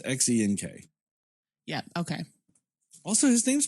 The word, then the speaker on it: Xenk: Zank, I think it was, right? Yeah. It's Xenk. Yeah, okay. Also, his name's pronounced like Reggie.